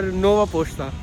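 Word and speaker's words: Нова Пошта: In Ukrainian we say it like Ukrpochta or Nova Pochta.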